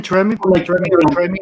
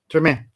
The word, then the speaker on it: Treme: I did again Tremi, however it's pronounced, until I went to New Orleans. Treme, thank you.